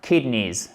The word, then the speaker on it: kidneys: Les reins, kidneys, accent tonique sur la first part, première syllabe, ok?